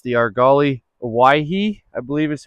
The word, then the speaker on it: Owyhee: It's the Argali Owyhee, I believe is how you say it.